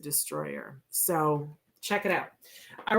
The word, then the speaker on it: Distroller: So it sounds like Distroller, but they pronounce it Destroyer.